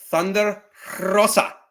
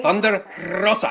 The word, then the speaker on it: Thunder Rosa: You just have to say it when you have to roll your R. You have to say Thunder Rosa.